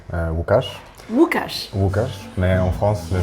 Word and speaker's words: Łukasz: ça te dérange pas que je prononce ton prénom à la française? Ça me fera plaisir. C'est comme ça que les gens m'appellent en France la plupart du temps. Lucas. Lucas, est-ce que tu veux bien te présenter? Bien évidemment. Donc je m'appelle Łukasz.